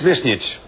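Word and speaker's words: Višnjić: It's Visnjic, but, you know, I'm telling you, forget it.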